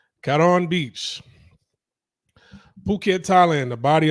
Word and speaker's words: Karon: Russian tourists found unalived in mysterious circumstances at Phuket's Karen Beach, which I know is probably not pronounced Karen. It's probably pronounced Karon, right? Karon Beach.